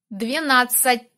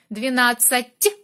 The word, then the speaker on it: двенадцать: You need to use soft consonant. Here. Двенадцать. It's soft. Soft t sound. T. Двенадцать.